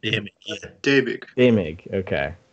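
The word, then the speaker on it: Däumig: Daumig. Daumig, okay. The A with the umlaut is pronounced like a long A. Is that right? Yeah, like an A.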